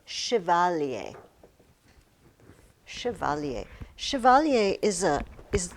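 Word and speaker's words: chevalier: It's it's because it's French. Not that the French are weird, but it's just it's not an English word. And it comes from shiovalier.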